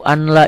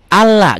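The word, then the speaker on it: أَلَّا: ini bukan Ashadu anna ada orang yang azan Ashadu Ana ilaha illallah salah Ashadu Alla ganti l ya n-nya ya Ashadu alla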